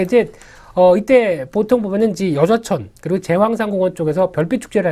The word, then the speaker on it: 여좌천: 그 밖에 지역들이 창원의 그 진해 쪽에 가다 보면은 어떤 놓치지 말아야 될 여러 가지 명소가 좀 있는데 벚꽃길 하게 되면은 여좌천 발음이 잘해야 됩니다.